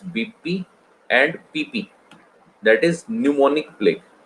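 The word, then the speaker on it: pneumonic: एंड PP, that is न्यूमोनिक plague. P से शुरू होता है, न्यूमोनिक plague. P is silent.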